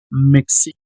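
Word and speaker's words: Mexique: La pronunciación, la recuerden la e final no suena. Mexic.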